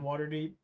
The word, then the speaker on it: Waterdeep: It doesn't really flood on in water deep. Surprising. Well, the water's pretty deep. Yeah, that's fair. Wow. You said it wrong. It's water deep.